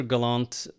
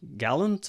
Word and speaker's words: Gallant: is galant or gallant or I answer to practically anything but uh Galant is the most common pronunciation.